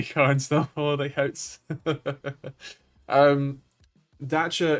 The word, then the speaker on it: Dacia: Dacia is, as I was informed by a very French Renault PR man, is the correct way to pronounce Dacia.